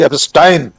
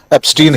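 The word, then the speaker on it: Epstein: जिसे वे कह रहे हैं इन फेमस मिस्टर जेफरी एपस्टाइन। आपने ठीक कहा उच्चारण। राहुल गांधी ने भी एस्टाइन ही कहा था। हम लोग भारतीय लोग उसको एस्टीन ही कह रहे हैं।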